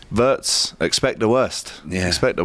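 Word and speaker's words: Wirtz: Florian Wats and I was in Holland with some German lads and they told me the true pronunciation correctly for this fella is Fian Watz. Florian Witz. Verts.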